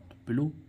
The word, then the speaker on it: pillow: अब हम देखें इसमें पिलो, PILLOW, पिलो, पिलो means क्या होता है, तकिया, लास्ट में क्या आ रहा है, OW, तो पिलो, है ना।